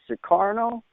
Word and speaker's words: Sukarno: And am I pronouncing your first name right? Is it Sukarno? That's correct.